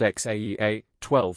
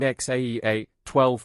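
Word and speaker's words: X Æ A-12: Rogan Experience podcast, saying, "X is pronounced like the letter, but the A is said like Ash."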